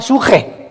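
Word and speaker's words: ψυχή: La palabra espíritu, apúntala, viene del hebreo suche, como suena, pero con P al principio de papá. Suche con S y CH. Suche se pronuncia suje.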